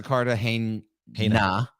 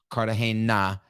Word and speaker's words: Cartagena: go listen to Melissa Cartagena with the hard N. Yep. Cartagena. And Cartagena is how you say it.